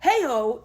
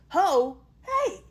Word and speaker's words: Ho Hey: It's not heyiho, it's ho hey.